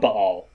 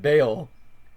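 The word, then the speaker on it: Bael: not even it's not baal that you haven't spelled b-a-e-l yeah it's but it's by elle but they pronounce it bale he's played by christopher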